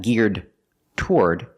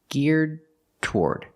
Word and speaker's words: geared toward: end geared geared toward when you link the D in geared and the T and toward they go together you don't separate them it's not geared toward its geared toward you do a stop D and then release the T geared toward this company